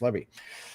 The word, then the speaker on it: Levy: Lieutenant uh Tanya Levy I thought it was pronounced Levi but I was horribly mistaken and it's actually pronounced Levy so uh she's an